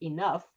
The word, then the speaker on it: enough: A gh could be like an F in the word enough, but it could also be like nothing like in the word although.